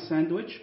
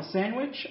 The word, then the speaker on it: sandwich: a sandwich تقوم بعمل ساندويتش، ممكن ننطقها ساندويتش او ساندويتش يعني ممكن ننطق الدي او ننطقها من غير الدي، النطقين صح.